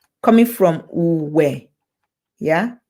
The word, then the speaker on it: Uwe: U is the short form. U, because R, a single R, yeah, a single R in Edo language is silent when it comes before a vowel, right? When it comes before a vowel, it's silent. So Uwe, U, yeah, some